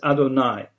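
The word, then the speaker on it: Adonai: point on was through the name you'd hey hey which is pronounced as other nine now this name is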